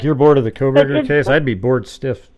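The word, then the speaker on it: Kohberger: But I just got tired of Cronenberger. I'm not saying it right. Yeah, Koberger. Koberger. But anyway.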